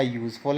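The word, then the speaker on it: useful: देखिए, अ यूज़फुल animal, यूज़फुल, यहाँ भी वाई का साउंड है।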